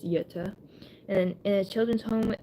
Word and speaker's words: Jutta: lives with his sister, Jutta, even though it's spelled with J, it's Jutta, and in a children's home in Zollverein, Germany.